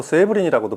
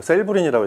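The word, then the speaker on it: Serblin: 동안 들려 드릴 제품이 프랑코 세이브린이라고도 발음하고 이제 셀브린이라고 이제는 발음했는데 이틀리 사람들은 서블린 뭐 이렇게 발음하더라고요. 프랑코 세블린의 아코르도 골드베르크이 스피커의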